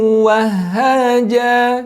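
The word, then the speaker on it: وَهَّاجًا: Di sini ada di ayat ke-13 sirajan wahhaja.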